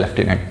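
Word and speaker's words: lieutenant: लेफ्टिनेंट की spelling ध्यान रखिएगा, ठीक है, ये होती है ल्यूटिनेंट, स्पेलिंग लिखी जाती है, बोला जाता है लेफ्टिनेंट, ठीक है।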